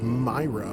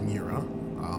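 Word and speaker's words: Mriya: answer in 225 um i've heard it pronounced myra but i also heard it pronounced mira that's how i pronounce it as mira but anyway the gt5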